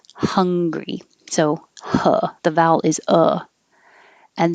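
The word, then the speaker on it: Hungary: 31 is hungry and americans pronounce the name of the country the same as the feeling of hungry so the vowel is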